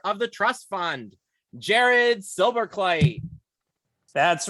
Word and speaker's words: Silberkleit: of the trust fun Jared silver clay hey Jared how are you I am doing great especially considering you did pronounce my name correctly which I can't say